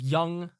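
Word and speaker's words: Jung: this clear before but young is spelled j-u-n-g oh like the guy like the guy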